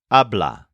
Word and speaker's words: habla: you'll use the word ablah this is spelled and pronounced exactly the same way as the third person present tense form which normally means he